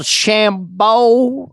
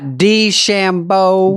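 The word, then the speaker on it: DeChambeau: Is that pronounced one called Shambo? Did I get that right? Bryson Shambo. Dshambo.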